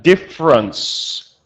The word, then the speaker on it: difference: Remember her with an S ending sound. So a little bit stronger, huh? Difference. Difference. Yeah, perfect. Because if you pronounce it as the uh t ending sound, then we have the adjective different. So, be a little bit careful with that in your pronunciation.